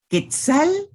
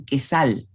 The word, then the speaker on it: quetzal: los medios de comunicación, Quetzal se pronuncia con la C. Hay algunas personas que dicen quesal, pero lo normal es decir Quetzal, Quetzaltenango.